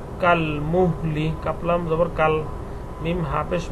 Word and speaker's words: كالمهل: সামাউ, কাফলাম জবর কাল, মিম হাপেশ মুহ, লামজের লি, কাল মুহলি, কাপলাম জবর কাল, মিম হাপেশ মুহ, কাল মুহ, লামজের লি, কাল মুহলি।